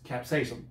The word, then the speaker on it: capsaicin: that go ahead i don't know how to pronounce it either or the recent alrisim caspian garlic powder no what it's capsaicin capsaicin that word i know it's the first one